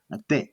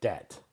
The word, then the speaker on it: debt: Uh the first one uh debt debt the B letter B is silent right debt.